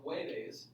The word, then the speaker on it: jueves: So for jueves, okay, which is what? That's Thursday, right? Okay. Yeah. Okay. Jueves is with a J, but it's pronounced ha.